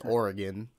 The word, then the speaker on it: Oregon: I know I pronounced Oregon wrong I'm from I'm from Chicago all right we we enunciate our O's okay I know it's Oregon all right but sometimes that slips out my Chicago accent slips out all right